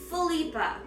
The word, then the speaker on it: Philippa: Philippa. It's like Philip, but for the girls.